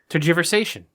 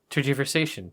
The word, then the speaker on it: tergiversation: v r s a t i o n tergiversation yeah tergiversation t r yeah so it's not turgid no